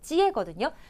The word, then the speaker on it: 接: 찌에거든요. 그러면 찌에는요. 요 한자 요렇게 발음해요.